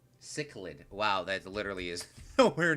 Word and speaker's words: cichlid: are chilled let's look at it chch lid cichlid cichlid wow that literally is nowhere near how I pronounced it a cichlid a cichlid look at